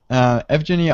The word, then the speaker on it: Evgeniy: So I'm not sure if I'm pronouncing your name right, but I think it's Evgeny. Yep, Evgeny.